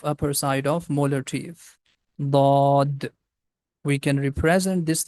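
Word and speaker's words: ضاد: can use the left side of the tongue. But make sure that the tip of tongue is not going to touch with the frontal teeth.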